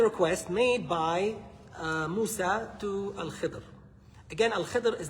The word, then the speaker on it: Khidr: And by the way, the pronunciation is Khidr. I know a lot of people say Khidr. It's a little faster, easier to say Khidr, I guess. But Khidr is the proper pronunciation.